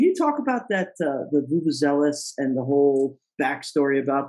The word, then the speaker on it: Vuvuzela: Vuvuzela.